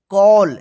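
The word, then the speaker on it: call: नियम क्या है कि ए के जस्ट बाद डबल एल रहे तो इस ए का औ उच्चारण कीजिएगा ठीक है तो देखिए यहां पे सी ए डबल एल तो इसको क्या पढ़ेंगे कॉल देखिए डबल एल है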